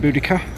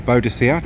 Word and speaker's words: Boudica: That is Queen Boudica, or Boudica, depending on how you wish to pronounce her, and on her chariot with her daughters.